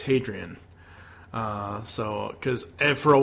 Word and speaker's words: Hadrian: got it right and it's basically Adrian with an H sound at the begin so it's hadrien uh so cuz for